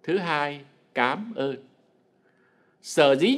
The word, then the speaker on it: cảm ơn: ơn cơ sở di nhiều người đọc là cám ơn vì do cách phát âm ở với mỗi vùng miền khác nhau Ẩm Thực ra phải đọc lại cảm ơn mới đúng còn từ cám ơn